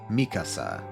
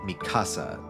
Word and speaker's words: Mikasa: can find somebody uh so I pronounce it like Mikasa I'm kind of stressing the first syllable um because I think that's how they do it in Japanese and I think that's slightly more accurate to the Japanese pronunciation and it makes sense because Mikasa is a Japanese name um I know in the dub they pronounced it Mikasa they stress the second syllable I'm not sure why